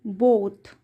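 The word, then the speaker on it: both: टी रूपवती when they बोथ यहां पर ओ का साउंड ओ आया है अ नहीं आया है हा बोथ देखो अब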